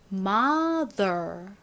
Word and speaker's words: mother: mother 이라고 발음이 되죠. mother이 아니라 mother 이렇게 스가 아닌 더 부드러운 드 소리가 납니다.